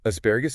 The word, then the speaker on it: asparagus: The stress is squarely on the second syllable as pais. The key is to avoid squashing those last few syllables together. You need to clearly articulate the G sound before the final ooze. Practice it slowly. It helps establish the right rhythm for a longer word.